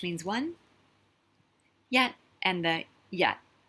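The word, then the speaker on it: yaht: So same spelling of Y-A-T, but you'll notice this one has the H in it. The H obviously is silent. It's just there to show you it's a low tone.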